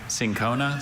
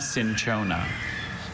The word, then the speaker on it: cinchona: Cinchona, Cinchona. Can you repeat the pronunciations, please?